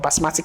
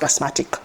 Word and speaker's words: basmati: also said something about basmatic rice you know I can't really remember why people call it basmatic rice I don't know because there's nothing like it's not pronounced basmatic it's basmati rice all right someone says